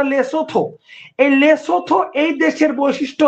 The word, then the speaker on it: লেসোথো: এই দেশের নাম হচ্ছে লেথ লেসোথো লেসোথো উচ্চারণটা লেসোথো এই লেসোথ এই দেশের